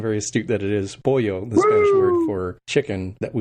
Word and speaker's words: Poyo: So it's spelled like yo-yo with a P is how we usually explain it to people.